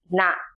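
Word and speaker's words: န: Next is na ji, pronounced na. This consonant sounds like an English N, as in net.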